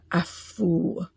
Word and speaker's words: Afu: that's an F, it's a with a that lifts up off the vocal cords, or and the F, it's an F like in Frank, and then ooh, with a kind of like a W sound at the end of the ooh, Afu.